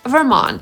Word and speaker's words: Vermont: Później jest Utah /ˈjuːtɑː/ i Vermont /vɚˈmɑːnt/. I akcentujemy drugą sylabę – /vɚˈmɑːnt/.